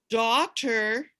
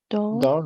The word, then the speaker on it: daughter: father, grandfather, grandfather, grandfather, daughter. daughter, daughter, Now, daughter is a little bit harder because Daughter. you don't pronounce that GH.